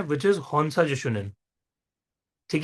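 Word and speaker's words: Hon Sha Ze Sho Nen: हम next symbol पे पढ़ रहे हैं, विच इज हॉन्सा जिशुनन। ठीक है। नाम थोड़ा सा टफ हो सकता है प्रोनाउंस करने में, बोलो मेरे साथ, हॉन्सा जिशुनन।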